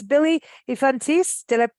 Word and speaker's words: Yfantis: very good um to musicians and it's Billy ifantis did I pronounce it correctly yeah yeah absolutely you sound quick yeah I'm trying y-f-a-n-t-i-s uh so Billy infantis and that's on bandcamp he's also on Facebook